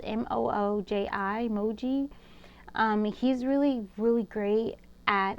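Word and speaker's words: Mooji: So I believe it's spelled M-O-O-J-I, Moji.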